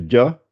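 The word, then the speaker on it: جَ: Ça fait dia, dia, adje, dia. Il ne faut pas dire ja, ja. Je n'ai pas dit ja. J'ai dit dia.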